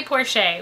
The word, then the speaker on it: Porsche: Yeah, and for those that don't know, it's pronounced Porsche. Perfectly Porsche.